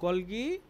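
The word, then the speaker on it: Golgi: ঠিক আছে, তারপর হচ্ছিল অনেকেই বলে গলগি, আমরা বাংলাতে গলগি বলি, কিন্তু আবার অনেকে প্রোনাউন্সিয়েশন এটার হচ্ছিল গলজি বলে।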